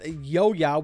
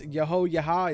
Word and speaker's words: Yoya: oh so famous Yoya, which I have been pronouncing the name incorrectly, and I do want to apologize. You guys probably know her or him, I'm not entirely sure, as Yaha. It's actually pronounced Yoya.